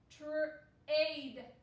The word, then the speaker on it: trade: The silent E is going to make the A say its name. So the A will say A, its name. So this word is trade, trade, to trade.